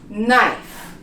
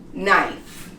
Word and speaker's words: knife: In K, like in these words, it's never pronounced when it comes before the N, such as knife.